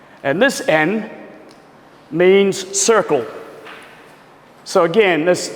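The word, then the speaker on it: 円: And another kanji, actually, this is en, the relationship that I'm talking about, but this is another kanji which is pronounced as en. So exactly the same. And this en means circle.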